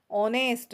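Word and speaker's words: honest: मोस्टेंट noun ऐसा है ऑनेस्ट है ना शुरू एच से होता है लेकिन यह जो एच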